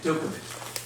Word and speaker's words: Djokovic: You don't pronounce the J. Dookic.